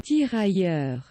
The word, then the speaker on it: Tirailleur: Right, hold on, I want to be respectful and not mess up the pronunciation. Tirailleur. Okay, thank you Google, I will trust you. The Tirailleur.